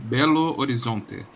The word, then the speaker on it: Belo Horizonte: How do you pronounce where you are specifically? I am from Belo Horizonte.